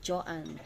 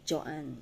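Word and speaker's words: Joean: Ang bigkas po ng aking pangalan ay Joanne. Ang spelling po kasi ng name ko is J-O-E-A-N. Pero, I pronounce it Joanne.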